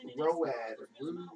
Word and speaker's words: Roode: Road.